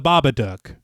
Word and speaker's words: Babadook: you guys see the babadook yeah I know it has to rhyme with book yeah that's kind of